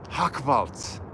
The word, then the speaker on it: Hochwald: Hochwald. Yes, I pronounced it right. It's German. I'm German.